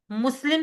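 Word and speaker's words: مسلمة: कर दे ठीक है मुस्लिम से मुस्लिम गोलता जो है ना अरबी में जब साइलेंट करके पढ़ी जाती है तो हा की साउंड देती होती है तो मुस्लिम से मुस्लिम बन जाएगा और वो मोनस होगा।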